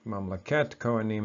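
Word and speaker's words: ממלכת כהנים: mamleka and koa nim but when it's in construct it gets pronounced a little bit differently mom look at koa nim and that's how you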